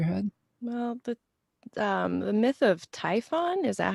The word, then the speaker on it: Typhon: Well, the myth of Typhon, is that how you say it? Yeah, Typhon, where it's just like this big beast that's